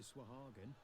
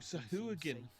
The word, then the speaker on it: Sahuagin: If they're right about the Swahagan, I may take up another line of work. Oh, Sahuagin. Oh, you're not pronouncing it right, but Sahuagin are cool.